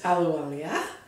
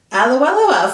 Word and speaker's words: Ahluwalia: I'm not going to try and pronounce her last name. It's Ahluwalia. Ahluwalia from Ahluwalia.